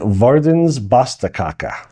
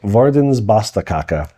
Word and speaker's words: Verdens Beste Kake: Um, it's called it's pronounced and I verified with the woman who worked there, the Verdens Basta Kaka.